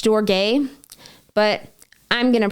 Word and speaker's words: storge: them when they need you then we have storage technically it's pronounced storge but I'm going to pronounce it storage is